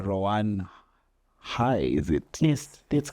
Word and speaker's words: Rowan Haai: l and today we have our guest H ran hi is it yes that's correct ran hi is it's important to pronounce that the same correct so ran is